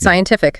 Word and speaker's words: scientific: Scientific.